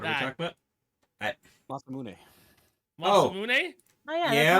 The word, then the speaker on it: Masamune: Masamune. Oh. Masamune? Oh yeah, Yeah. that's Masamune.